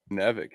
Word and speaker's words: Nevik: Nevik is how I say it.